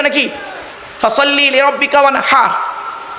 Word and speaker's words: ওয়ানহার: ফাসাল্লি লিরাব্বিকা ওয়ানহার, কি বললাম? ফাসাল্লি লিরাব্বিকা ওয়ানহার, উচ্চারণটা ঠিক রাখুন। ওয়ানহার, ওয়ানহার নয়, ওয়ানহার। এই গলার ভেতর থেকে হে এটা উচ্চারণ করবেন।